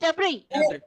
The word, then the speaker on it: debris: Debris. Debris. Yes, Silent. yes. Silent. Debris. S is silent.